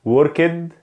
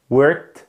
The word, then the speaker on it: worked: اول حاجه معانا النطق الغلط، وركد وركد وركد وركد، ليرند ليرند ليرند ليرند، واشد واشد واشد واشد. ده كده كان النطق الغلط. طيب ايه هو النطق الصح؟ worked worked worked worked، learned learned learned، washed washed washed.